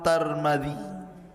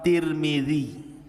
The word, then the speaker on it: Tirmidzi: Dan ada yang kemudian membacanya tarmiz. Ada turmud, ada Tirmid. Jadi ada sebagian ulama mengatakan Imam Tarmadzi, ada yang mengatakan Imam Turmudzi, ada yang mengatakan Imam Tirmidzi. Walaupun yang masyhur adalah Imam Tirmidzi ya.